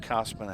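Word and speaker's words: Kosman: that is Marissa Cosman KO s m an pronounced Cosman however as what I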